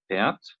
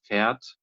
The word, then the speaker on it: fährt: Yeah, we don't pronounce the R sound because we have Ä, H, and then the R. And every time when the R follows after a vowel, Okay. then we pronounce it just as we do here. So it's more pronounced as an A sound, A, right? And the H here in the middle can be omitted for the pronunciation.